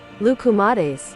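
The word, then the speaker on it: λουκουμάδες: Pronunciation. Play it. Lukumades.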